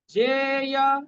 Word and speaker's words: জ্ঞেয়: কথন না জ্ঞেয়, এটাকে যারা গ বলেন তারা গ বলতে পারেন, জ্ঞেয়। কথন না জ্ঞেয়, এটা প্রাদেশিক উচ্চারণ হিসাবে সঠিক বা সংক্ষিপ্ত। এখানে কি অক্ষর আছে? হাফ জ পূর্ণ ই, এই জন্য জ্ঞেয়টা হচ্ছে সঠিক। তবে আপনারা গ বলতে পারেন, গ বললে প্রাদেশিক অনুযায়ী ভুল নেই।